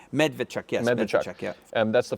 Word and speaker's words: Medvedchuk: There are two pictures of him, but they're literally posting pictures of this guy, Victor, and Medvedchuk. Is that my pronunciation? Medvedchuk, yes.